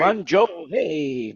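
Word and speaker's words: Guangzhou: Uh Guan Guan, I can't pronounce it. Guancho, is that right? Guanjo.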